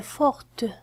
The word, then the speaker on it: forte: Mina est forte. Mina est forte. كذلك T هنا لم تكن تنطق، هنا تنطق بإضافة e. Mina est forte.